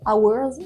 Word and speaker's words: hours: dents et par contre le H de hours, il est silencieux.